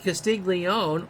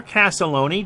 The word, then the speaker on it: Castiglione: to six and right pete castiglione or castelloni depending on how you pronounce it is a seven at third obviously joe castiglione the red sox announcer is how i would say it stan rojack is